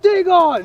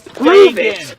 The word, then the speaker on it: Dagon: I love Dagon. He's the best. Dagon is Dagon. It's Dagon and he rocks. That's our nod to the different potential pronunciations of Dagon right there.